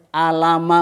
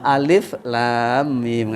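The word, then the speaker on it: ألم: Niki dirangkai Pak Jamal Tapi bacanya per huruf mboten Alama mboten moten Alama Alif Lam Mim ngatenik kahaya Asad ngen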